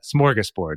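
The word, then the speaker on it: smörgåsbord: American English but uh smorgus board is how it said o Lots yes all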